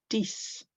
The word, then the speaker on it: dix: And finally, dix rhymes with six.